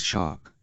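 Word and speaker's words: SHARC: hr comma lambert says pronouncing the word as shark or to be more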